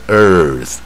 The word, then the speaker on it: earth: 往下 birds，像土地也是 earth，声音那个。